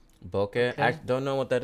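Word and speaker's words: Bokeh: the whole world's - you can do bouquet it's how you say it bouquet I don't know what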